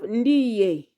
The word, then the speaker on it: ndiye: Then you have ndiye. Ndiye. Ndiye has syllable ndi. Okay, so let's continue. Now there is the word ndiye, which has syllable ndi, ye.